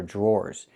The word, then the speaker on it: drawer: The dr makes a J sound like in juice and jump. Plus the R. J. Then we have the or sound like more and door.